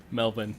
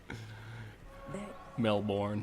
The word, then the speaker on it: Melbourne: Melbourne. Yeah, exactly. It's just the opposite of how it's spelt. Melbourne.